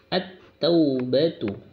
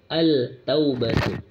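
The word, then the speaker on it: التوبة: Kemudian di sini at-taubatu. At masuk huruf ta-nya. At-taubatu. Jangan membacanya al-taubatu. Kalau membacanya al maka salah. Masuk pada huruf yang bertasdid, yang bertanda tasdid, at-taubatu.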